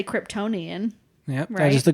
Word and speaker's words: Kryptonian: on the the genealogy assignment in I'll say Kryptonian yeah that is the correct way to say